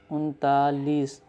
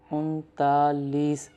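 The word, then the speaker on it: انتالیس: 39 is following 40, therefore we use lease which is चालीस. So 39 is untalis, unta and then say lease, untalis, 39.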